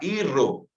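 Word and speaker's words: hijo: nós falamos, por exemplo, a palavra irro, Se escreve ijo, Mas lemos irro.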